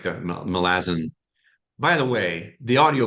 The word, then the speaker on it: Malazan: I was mispronouncing, you know, Malazin. I was saying Malazan like lots of other people."